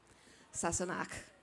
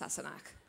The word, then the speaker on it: Sassenach: Sassenach. The question was, you know, can I say this unpronounceable word that Jamie calls Claire? It's pronounced Sassenach, and it means an outlander, specifically an English person.